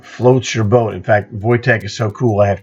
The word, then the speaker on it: Wojtek: Now, does a Wojtek, and that is the proper pronunciation of his name.